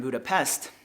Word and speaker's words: Budapest: on it uh well in Hungarian the S is pronounced sha so if you're ever in Budapest it's actually budapes and yeah so when